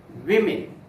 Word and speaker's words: women: If you use the plural from the word, you should pronounce it as women. I discussed the matter with all the 20 women in the auditorium. Women is the correct pronunciation of the word.